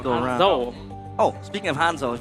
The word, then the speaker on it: Hanzo: It's Honja, not Hanjo. Cuz Hanjo is like the hero, the guy that can Yeah, that's Hanzo. Hanzo.